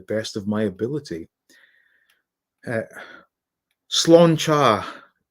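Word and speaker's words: Sláinte: of my ability uh slan char would be the correct pronunciation okay slan cha and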